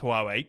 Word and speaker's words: Huawei: So we did the Huawei episode, and apparently for British people, we pronounce Huawei correctly, or at least it was a kind of backhanded compliment, I think.